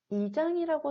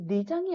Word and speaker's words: 이장: 마찬가지로 세 번째는 이장이라고 쓰는데요. 자, 우리 리장이 아니라 리을을 이음으로 탈락시켜서 우리가 이장이라 쓰게 되고요.